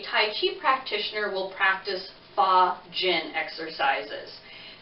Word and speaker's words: fa jin: chi practitioner will practice pha gin exercises that is spelled f a and then another word j-i-n what that basically means